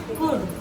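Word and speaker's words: could: एक चीज और इसमें एल जो है हमाराय साइलेंट है एल हमारा लिखा जरूर जाता है लेन एल इसम साइलेंट है ठीक इसे कोई कुड नहीं बोलेगा सीओ य एलटी जरूर बोलते लेन कुड नहीं कुड कुड एक तरह से एल छिपा हुआ है ठीक बोलने में छिपा हुआ है लेकिन देखने में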